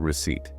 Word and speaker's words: receipt: Let's look closely at receipt. It is spelled R-E-C-E-I-P-T. The magic secret here is that the letter P is a ghost letter. A ghost letter. It's completely silent. We do not say it.